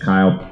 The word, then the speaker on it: Kiel: uh my name is Kyle uh it rhymes with mile um and I want